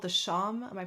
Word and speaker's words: shawm: So the oboe, I think the ancestor is called the sham. Am I pronouncing that right?